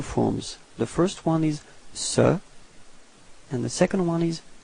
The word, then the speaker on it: ce: have actually two forms the first one is Sir and the second one is set okay so